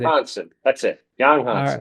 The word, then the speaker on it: Yang Hansen: Yang Hansen.